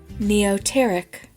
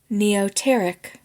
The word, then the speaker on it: neoteric: is this week's Wordsmith word of the episode neoteric okay say that one more time so we can hear that pronunciation neoteric all right neoteric spelled NE EO t r i c NE